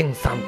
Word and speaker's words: GEN 3: 通りえ名前が GEN 3 と書いて原 3 と読むらしいんですけどな